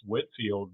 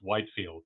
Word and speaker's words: Whitefield: can tell that it was pronounced Whitfield because even in his lifetime it was often misspelled you know without without the e in the middle.